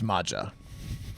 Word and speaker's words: Maja: towards the small town my name is Maja or Maya I don't know how I would pronounce the J in that name it's Maja my directive is to